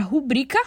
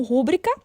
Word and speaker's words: rubrica: palavra então por exemplo nós temos a palavra rubrica sendo pronunciada muitas vezes como rúbrica gratuito como gratuito para